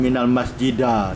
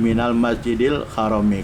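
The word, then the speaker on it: مِنَ الْمَسْجِدِ الْحَرَامِ: binal Masjidil Harom yg tidak main almasjidu tidak Minal masjida tapi Minal Masjidil Harom kanan Mini huruf hop Fathur kasrah jadi setelah huruf Mini mesti kasrah bacanya ini buktinya dalam Alquran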